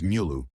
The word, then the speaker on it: Müller: Said correctly, it is Mülluh. With the lips rounded and then it arrived